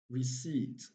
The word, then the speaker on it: receipt: call and we have received receipt and the two final words also have silent letter p's we have raspberry ras